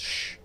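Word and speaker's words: ş: The S with a tail is pronounced sh like hissing at someone to keep it quiet.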